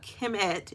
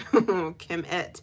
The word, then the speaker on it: Kemet: Now, if you think about Kemet, and we talked about that et sound at the end of something denoting feminine, what does that tell you? Kemet.